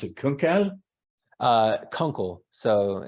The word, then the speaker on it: Kunkel: Do you pronounce it Kunkel? Kunkel. So Kunkel.